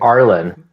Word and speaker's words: Arlen: Is it Arian or Arian? I want to say it right. Arlen. Arlen. Oh, that's an L. So it's neither.